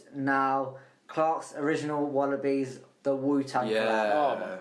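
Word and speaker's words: Clarks: And You've already it said rhymes with Clark's, Marks.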